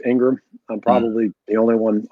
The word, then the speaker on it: Ingraham: that people understand that your last name is spelled i-n-g-r-a-h-a-m as ingram and so well listen